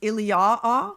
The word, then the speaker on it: Iliou: It's written Iliou proparoithen, so in front of Ilion, but that word Iliou has to be pronounced Iliaa.